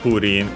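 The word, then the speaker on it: プリン: Japanese most certainly purin, which is the Japanese pronunciation for pudding, which was kind of a slime.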